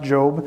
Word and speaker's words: Job: Sounds like Job, but it's pronounced Job.